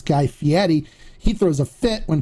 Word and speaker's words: Fieri: on Fieri it's not Fieri it's fiti so the way it's pronounced as like Fe and Eddie so fedie so it's guy fi Edie just for you know